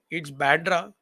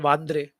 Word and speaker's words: Bandra: It's Bandra, and in Marathi it's called Vandre. So these are the two pronunciations that one can use. And in Hindi it's called Bandra, Marathi Vandre, and English Bandra.